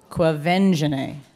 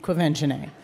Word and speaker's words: Quvenzhané: Start again. Qua. Qua. Vin. Ven. Ja. Je. Nay. Say it all together. Quvenzhané. Yes. All right, that's probably the only correct time I will pronounce it. Quvenzhané.